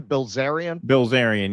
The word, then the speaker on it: Bilzerian: Bilzerian.